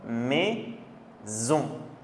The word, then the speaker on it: maison: Ensuite, quand vous avez un S qui est entouré par deux voyelles, donc I, O, on va prononcer Z. Comme maison, rose, raison, musique.